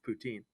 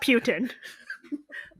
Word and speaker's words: poutine: a Canadian food yeah what what is the France or the Montreal French pronunciation of Putin Putin Putin yeah lame not Putin where definitely not Putin um yeah I guess